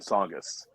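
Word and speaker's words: Tsongas: that's right it's the songest arena in lowell massachusetts the and by the way the t is silent and songous oh okay good to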